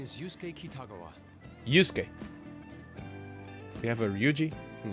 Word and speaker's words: Yusuke: Yusuke. We have a Ryuji and a Yusuke. Yusuke. Huh. Yusuke. It's weird. It seems like Yuzuke, like 3 syllables, but I think it's only 2.